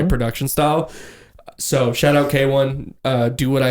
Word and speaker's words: KWN: His name's K1. K1? K1. Spelled KWN. K1. KWN. KWN K1. That's how you say it? That, you know what? I can even prove it to you. That it's on a Spotify bio. That's how we... Bro, would you have to phonetically tell people how to say your name? Pronounced K1.